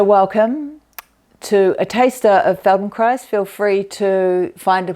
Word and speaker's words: Feldenkrais: to a taster of Feldon Christ feel free to find a place to lie down on the floor and join in Feldon Christ rhymes with Paradise one of the things